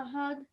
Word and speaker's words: أحد: قل هو الله أحد. Okay, remember your bouncing sound at the end.